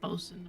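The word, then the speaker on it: boatswain: a shorten version yeah and so they say bosen I'm a BOS when I was researching some navies would call them bosen and some would call them boat swains and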